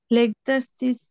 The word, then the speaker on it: l'exercice: L'exercice doit. এটা হচ্ছে ও আর এক হচ্ছে একারের উচ্চারণ হবে, লেক্সারসিস, এটা লেক্সারসিস হবে না, এক্সারসিস।